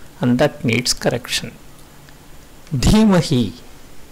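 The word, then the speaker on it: धीमहि: Dhimahi, dhyo. The dhi in both these words need attention. They are wrongly sounded as d.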